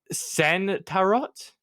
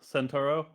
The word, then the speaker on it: Sentarot: Sentarot? Have I just Actually, butchered your name? the final T is silent. Centauro.